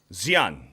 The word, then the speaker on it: Xian: Xian. Close Xian? enough. There's no X. It's like Sean.